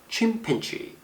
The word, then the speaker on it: chimpanzee: 액센트 이름절에 있습니다. chimpanzee.